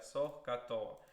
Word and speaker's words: SOHCAHTOA: Can you pronounce it? SOHCAHTOA? Sohkato. No, I cannot hear you. Okay. No. Sohkato. Toa, yeah, SOHCAHTOA.